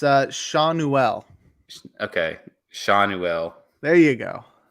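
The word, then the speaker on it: Schanuel: insane numbers um is the Angels rookie Nolan Chanel um he's respacing 25 I got the pronunciation Davis what it's uh Shanel okay shanell there you go okay he's reached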